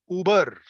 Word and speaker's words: Uber: I came by an Uber trip try pronouncing the word ooh Uber Uber what should we use